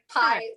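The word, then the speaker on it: pai: pie yes literally the pie yes you pronounce it like the thing you eat spell it differently but yeah it's pie um this is this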